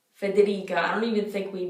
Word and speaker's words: Federica: you got to hold it make sure you're pronouncing all those vowels alessia some other ones are federica federica i don't even think we really have an